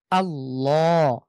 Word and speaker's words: আল্লাহ: পূর্বে এখানে জবর রয়েছে তাহলে এখানে আমরা মোটা করে পড়বো যেমন আল্লাহ ল এখানে একদম সোজা